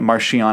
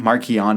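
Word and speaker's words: Marchion: Uh, and yes, I'm pronouncing it Marian. I know that some people pronounce it maron, but it's a ch. So, anyway, um, uh, u, I I'd accept Marchon, but I say Marian.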